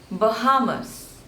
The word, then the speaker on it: Bahamas: Austria Austria next is Bahamas Bahamas so there are three syllables and stress is on the second one Bahamas Bahamas Bahamas next